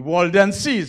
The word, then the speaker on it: Waldenses: I never pronounced that name right. The Waldenses.